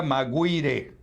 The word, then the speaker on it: Maguire: En castellano sería Maguire. En fin, Maguire, habría que decir. Bueno, veamos el video. El expresidente Alejandro Toledo fue trasladado el último viernes a la correccional de Maguire en el condado de